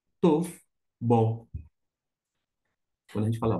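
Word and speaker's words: טוֹב: aqui ó o e Aqui nós temos o o som o Vet que vai ter um som de V como é que eu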